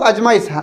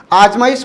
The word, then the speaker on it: आजमाइश: ठीक है, इसको कई बार लोग अजमाइश, ज्यादातर परिस्थिति में अजमाइश ही बोलते हैं। आजमाइश कौन बोलता है? बहुत कम। तो जो शुद्ध शब्द हैं उसका उच्चारण लोग बहुत कम करते हैं।